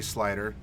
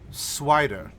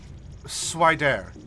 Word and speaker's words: Swider: Oh, and what's that going to be, Slider? Swider. You don't know how to pronounce my name. Slider. Swider. Swider. Accent on the dare.